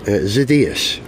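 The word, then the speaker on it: Xydias: original SoCal Speed Shop Alex zidas is that how you say his name or zidus zidas okay yes oh telephone call from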